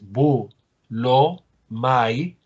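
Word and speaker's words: βούλομαι: Recuerden que aquí puede estar el acento a condición de que esta sílaba sea breve. Por tanto, en los verbos, el diptongo ai, cuando está al final, generalmente lo estamos considerando breve para efectos de la acentuación.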